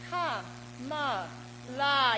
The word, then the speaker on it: Kamala: That's 3 syllables, right? I've got another word with 3 syllables. It's Ka-ma-la.